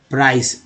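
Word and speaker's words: price: Next देखिए कीमत या मूल्य प्राइस, CE को श उच्चारण करते हैं प्राइस।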